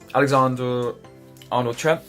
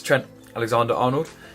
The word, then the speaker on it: Trent Alexander-Arnold: Okay, so moving on to my team, I've got Alexander-Arnold Trent. Sorry, that's not how you say it. It's Trent Alexander-Arnold.